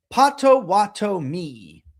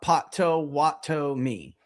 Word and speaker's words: Potawatomi: Potawatomi. Potawatomi. Potawatomi. Well, how did I say it? Let's do it again. Let's try. Potawatomi. Potawatomi. Or you're saying spread it out. Potawatomi. Like that. Say it like that.